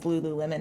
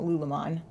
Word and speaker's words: Lululemon: Well, I just That's found out Lululemon is Lululemon and not Lululemon.